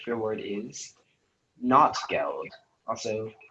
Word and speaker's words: Notgeld: All right, speller 5, your word is not geld, also not geld.